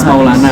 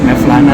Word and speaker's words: Mevlana: Tapi nama bacanya Maulana bacanya sebetulnya. Tapi orang-orang banyakan bacanya Mevlana sih.